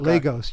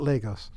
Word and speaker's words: Lagos: We call it Lagos. You have a different pronunciation, Lagos. Right? Yeah, but we call it Lagos.